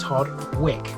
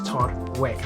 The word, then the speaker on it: Todwick: I can now conclusively tell you it is pronounced Todwick, so from now on I will refer to it as Todwick.